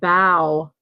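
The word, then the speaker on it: bough: We have bow. Bow. B-O. I was going to spell it in the chat like you guys.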